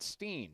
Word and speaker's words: Winterstein: it is winterstein i pronounce my last name stein he pronounces it steen winterstein wears 11